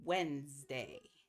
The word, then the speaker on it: Wednesday: Wednesday oh Wednesday we say it it looks like wedness day but it's not it's like w w NS day it's two syllables and it's Wednesday okay I think that